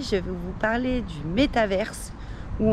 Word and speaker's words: métavers: Aujourd'hui, je vais vous parler du métaverse, ou en français en fait du métavers, puisque théoriquement il n'y a pas de E en français, mais moi j'avoue j'ai l'habitude de le prononcer à l'anglaise, donc voilà, je dis métaverse, c'est juste une habitude et vous dites comme vous voulez.